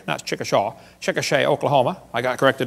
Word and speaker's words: Chickasha: textbook still has it 2005 textbook and I pronounced it wrong as Chickasha that's Chickasha Chickasha Oklahoma I got corrected during the break